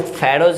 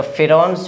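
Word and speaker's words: Pharaohs: Next question है द फेरोज where the ruler of, इसको फेरोज, यहाँ पे भी बहुत मिस्टेक होता है, कितना व्यक्ति फेरोज पढ़ता है, लेकिन इसका शुद्ध प्रोनाउंसिएशन जो होगा वो फिरौन होगा।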